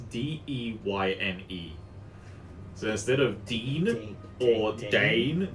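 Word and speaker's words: Deyne: I'm just like, no, she's not a dean. Ironically, Dean, the reason why I've been pronouncing it Dean the whole time, which is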